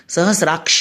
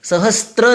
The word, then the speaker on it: सहस्र: सहस्राक्ष नहीं होता है, सहस्राक्ष होता है। और सहस्र है, सहस्त्र नहीं होता है।